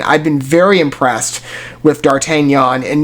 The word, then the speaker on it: D'Artagnan: which at this point dartanyan I believe is the correct pronunciation is just another artist